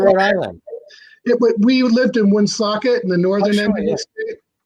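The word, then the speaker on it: Woonsocket: island we lived in one socket in the northern end right on the massachusetts border and that's how you say it wound socket that's how you say it yeah right it was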